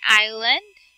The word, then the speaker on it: island: here oh you mean island okay so that is Island so you will not be announced or you not pronounce the letter S word okay so this time